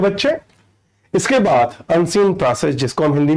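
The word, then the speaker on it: précis: अगला प्रेसी राइटिंग, जिसको लोग गलती से प्रिसाइज राइटिंग कहते हैं। सही उच्चारण यानी प्रोनाउंसिएशन बहुत जरूरी है बेटा। तो प्रिसाइज राइटिंग, जिसको प्रेसी राइटिंग एक्चुअल प्रोनाउंसिएशन है, एक क्वेश्चन आता है और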